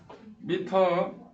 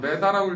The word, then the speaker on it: 미터: 미터. 야 메다라고 읽지마. 이건 일본식 발음이야.